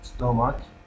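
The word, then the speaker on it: stomach: زين، هنا استوماك، بالمناسبة هاي أيضا تلفظ استوماك هيك، يعني ألم المعدة، استوماك هاي أيضا تلفظ ك، هاي تلفظ ك.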